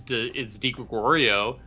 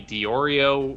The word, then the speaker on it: Di Gregorio: I got a lot from Di Gregorio because people said it's not delivery, it's Di Gregorio. They would call me Diorio or DiGiorno or nobody can pronounce Italian names.